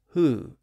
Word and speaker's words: who: on the other side the W sound in the middle disappeared and that left the H sound at the front and gave us the modern pronunciation as who even though the word